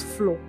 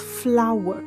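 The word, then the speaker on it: flour: This word is not pronounced as flow. Flaw is what you step on. This word and this word are pronounced the same way. It is pronounced as flower and not fl. Flower. Flower. Flower. Flower. Please stop pronouncing this word as fl.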